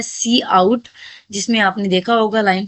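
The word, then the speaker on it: cout: सी और pronounce as सी आउट।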